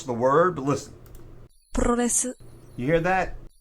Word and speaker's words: Puroresu: I mean, I asked the computer over here how to pronounce the word, but listen. Puroresu. You hear that? Puroresu.